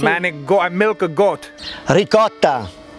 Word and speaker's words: ricotta: Ricotta. Rigot? Ricotta. Rigot. No, ricotta. No, rigot. No, rigot no.